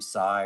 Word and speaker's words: Sigh: You know, my name sigh rhymes with high.